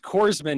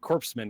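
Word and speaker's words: corpsman: Chuck him You in know the it's have a you know lot it's of pronounced Corsman, not Corpseman, right?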